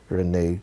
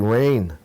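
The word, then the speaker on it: Ryne: you happy eighth birthday Renee Wy okay sorry oh sorry yes that looks like rain not Renee r y n e One e all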